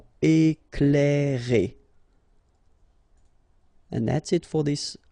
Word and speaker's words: Éclairer: Okay, C and L together, you will pronounce this cl. Éclairer.